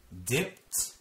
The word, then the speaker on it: dipped: avonlea main road dipped dipped makes a t sound dipped dip vip dip dipped